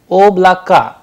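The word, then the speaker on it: облака: written and pronounced differently because again the stress is on the first vowel that is why it sounds like ob lakka instead of oblako because trays play a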